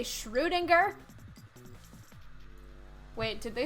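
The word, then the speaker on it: Schrödinger: ] day it is it's schroedinger i speak german correctly it's sriringa it's more like ooh than oh people say schrodinger in english but more correctly it is schroedinger i could be a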